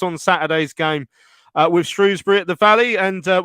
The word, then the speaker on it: Shrewsbury: been playing you guys now it's most definitely Shrewsbury there's no it's an e excellent stuff well